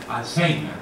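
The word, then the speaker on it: alzhéimer: En realidad, la academia insiste que siga Alzheimer, ¿verdad? Y está así adaptada con un acento en la E, dicho sea nuestra fonética.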